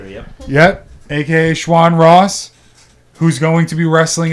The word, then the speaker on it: Schwan Ross: To, Shawn aka Shawn Ross. Am I pronouncing that correctly? Yep. Yep. aka Shawn Ross.